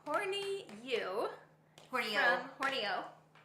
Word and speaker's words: Horney Ewe: from Horney Ewe. It's spelled Horney Ewe, but it's apparently pronounced Horney Ewe. It's the Scottish way.